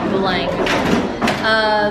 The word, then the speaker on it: Belém: It's spelled with an M, but it's pronounced NG, Belang.